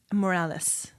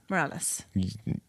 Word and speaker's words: Morales: to me again Jesus Morales Morales Moralis either pronunciation is acceptable Zeke help uh he